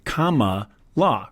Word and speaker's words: Kamala: pronunciation perfectly clear and it turns out that the way you pronounce it is like the punctuation mark comma la cama LA so meant no